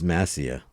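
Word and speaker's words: Mascia: he was going home Thomas mashia Mas CIA Masia Thomas Masia I think it's massia Thomas Mia C is silent c is silent Thomas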